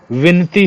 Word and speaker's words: विनती: देने की आवश्यकता है विनती होता है ब नहीं लगा होता विनती बोलते हैं उच्चारण में ब का प्रयोग करते हैं जो कि गलत है विनती होता है व लगा होता है जैसे बिहार के